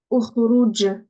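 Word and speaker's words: اخرج: Je vais dire ukhrouj. Ukhrouj. Et pourquoi j'ai dit ou? C'est parce que ici, il y avait une dama. Dans la troisième lettre, il y a une dama.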